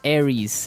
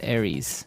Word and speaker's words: Aries: And um so it's pronounced Aries. Aries.